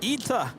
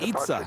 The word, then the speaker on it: ITA: Ita, not Itza. Jet 503. I'm never going to get this down. Ida.